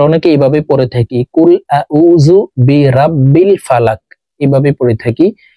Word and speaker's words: أعوذ: কফ লাম পেশ কুল, কুল আউযু, আইনকে হলকের মধ্যখান থেকে চাপ দিয়ে উচ্চারণ করব। আউযু, কুল আউযু, কুল আউযু বিরাব্বিল, এখানে বিরাব্বিল পড়া যাবে না, পড়তে হবে এইভাবে।